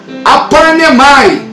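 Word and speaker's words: ἀπαρνέομαι: E quando nós vemos, na verdade, essa palavra renúncia, essa palavra, na verdade, na sua etimologia, ela vem do idioma grego, que você, na verdade, pronuncia aparnemai, ou seja, é o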